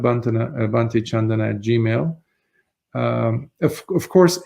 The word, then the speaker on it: Candana: uh under my name chandana uh that's the keyword chandana is is spelled like it's spelled here c a n d n a uh without the H it's um it's a poly name chandana it's spelled